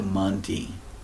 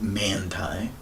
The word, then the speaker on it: Manti: the battles tied to Monty it's not Manti aunti is likely that pronunciation and Auntie means the